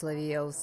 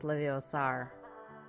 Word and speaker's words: Leviosa: are saying it wrong it's leviosa and not leviosaur besides you're saying it